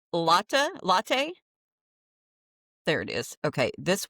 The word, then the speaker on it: Lotte: I've been saying lot, so it's latte. There it is. Okay, this week we explore the massive. So honestly, I say lot in English because that's what it looks like, and it's not an English word.